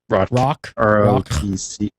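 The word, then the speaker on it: Rothc: No class-specific storylines are included, though I know you guys are going to love what, and how's this pronounced, Rothk? Is that Rothk has to offer? Rock. R-O-T-H-C.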